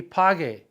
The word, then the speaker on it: pague: We need opposite vowel, it's going to be pague. But same thing, the G with an O, A, or U is the hard G sound.